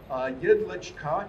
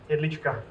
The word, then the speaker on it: Jedlička: So, Jedlička, did I say that right? Yes. Jedlička? Jedlička.